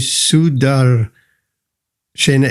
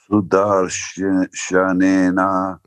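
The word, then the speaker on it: sudarśanena: So your line with Sudar, Shena, if there is a syllable missing or too much, then the verse gets out of meter. Can you try it again? Sudar? Sudar Shanena Svastrena. Ah, that's better, yes? Not Sudar Shena Swastre.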